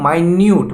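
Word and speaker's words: minute: record ठीक है ना एक होता है माइन्यूट माइन्यूट मतलब होता है एक्सट्रीमली स्मॉल मतलब कि बड़ा बारीकी से उसको माइन्यूट पढ़ते हैं स्पेलिंग सेम है और इसको मिनट्स पड़ते हैं ठीक है तो वाइल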